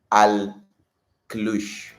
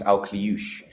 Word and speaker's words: Akliouche: it so I've learned it is um Magnus Alouch. Yeah, Magnus. I think I know how to spell it. Magnusier Alush. Yeah, Magnus Alouch.